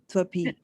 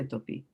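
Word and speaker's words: त्वापि: So when you read it, do you read it that way? Do you say, oh, twapi? So you say twapi. Yes, you can say twapi.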